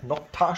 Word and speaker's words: Nokta: Das heißt nämlich hier so Nocta oder so ähnlich. Ne? Nocta spricht man dazu aus, Leute.